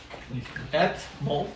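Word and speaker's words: Etmulf: name a boy name aolf yeah molf molf ET molf can you spell it out please e t m u l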